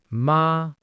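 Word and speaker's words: 麻: For example, the syllable ma. If I say ma with a high flat tone, it means mother. Ma.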